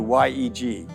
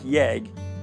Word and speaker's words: YEG: the transition from eia to yeg pronounced like yag this has been our airport code since we opened in 1959.